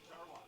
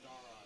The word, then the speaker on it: Dara: Dara. Who? Dara. Dara? Yes. Dara. Darwa. No, Dara, like D-A-R-A.